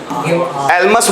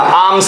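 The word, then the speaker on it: alms: verb है give आर्म्स एमस मत पढ़ लेना आमस एल साइलेंट गिव आम्स भिक्षा देना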